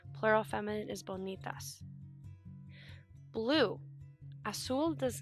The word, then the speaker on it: azul: The Z is pronounced like an S, so azul, azules.